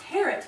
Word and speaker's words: Harriet: It's Harriet. Rhymes with parrot. I'm sorry? It's pronounced Harriet. The I is silent.